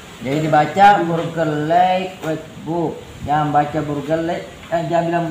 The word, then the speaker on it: Burgerlijk Wetboek: saya kasih tanda panah, tanda itu IJ dibaca A ya, jika A ya. Burger like book itu oe atau boy itu dibaca bu ya, itu ejaan bahasa Belanda. Jadi dibaca Burgerlijk Wetboek.